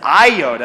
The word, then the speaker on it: iota: do you see that that is the Greek letter Yoda not a Jedi Knight and not mispronounce is iota I don't even want